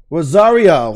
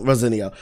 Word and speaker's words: Rosario: saying that Rose bro how do you say it Rosario rosinio Rosario Dawson who I didn't realize is